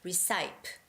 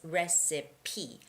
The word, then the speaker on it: recipe: Because I see a lot of you saying recipe or recipe, but it's recipe, signature recipe.